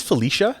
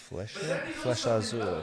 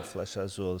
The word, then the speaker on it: Flecha Azul: This one here is Is this Felicia? How do you pronounce that? Felicia. Flecha Azul. Flecha Azul.